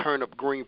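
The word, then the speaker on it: TurnUp Green: Vegas, man, CEO of Turnip Green Productions, reporting from Alabama live, man. When I say Turnip Green, that's spelled TURNUPGREEN. Kind of sound like what we eat in the South, but it's TURNUPGREEN.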